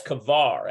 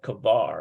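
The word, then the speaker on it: כבר: all the students cover I think that's kavar actually sounds more like kabar it's like they're always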